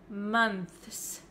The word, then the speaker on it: months: month however this one also has an S at the end that's really difficult to pronounce right we can pronounce this word word as months months if you want to say the th sound clearly plus the S and that is really difficult